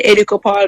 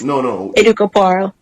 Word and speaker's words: Educo Paarl: like how you have as well, Dax, by Educo Paarl, because I use the same name on Instagram, and I do have a website that I have been creating recently myself. So it's Educo Paarl.